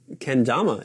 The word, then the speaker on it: kendama: What is kendama in Japanese?